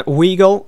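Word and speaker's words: Weigl: for 22 million Akin pong from Mains Julian Weagle from Dortmund for 56 million that's how you pronounce his name they also signed Jinta from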